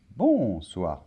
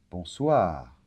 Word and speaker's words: bonsoir: final bonsoir très bien accent tonique est toujours à la fin des mots en français donc c'est pas bonsoir non bonsoir d'accord bonjour très bien alors